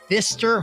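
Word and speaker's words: Pfister: spook show of the Fister Hotel. Well, that's what it's called. Fister, but with a P. The P is silent, much like my last name, actually.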